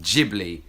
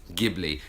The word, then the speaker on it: Ghibli: the word is pronounced Ghibli not Ghibli the word comes from Arabic in Italian which is Ghibli but very much the Japanese pronunciation is Ghibli we also learned that